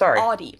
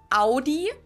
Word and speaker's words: Audi: the first one is aie most Americans pronounce it like I just said it aie in German we say Audi we say Ai and